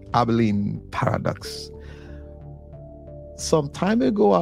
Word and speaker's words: Abilene: I want to talk about today is the abalene paradox abene paradox it is spelled a b i l e n e abene Paradox some time ago I overheard yes this